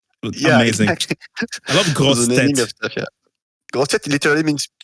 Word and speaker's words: grosse tête: We love when Americans say grosse tête. Oh no, that's not how you say it. But well, they try. It's fun.